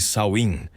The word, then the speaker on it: Samhain: Muito antes de o Halloween se tornar a festa de doces e fantasias que conhecemos hoje, existia uma celebração celta chamada Shein, pronuncia-se Sain, celebrada há mais de 2000 anos na Irlanda, Escócia e partes da Grã-Bretanha.